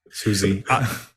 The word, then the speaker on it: SUSE: name of it yeah Susie I read years ago that it is to be pronounced the same way as the American band writer uh John Philip Souza and so that's pretty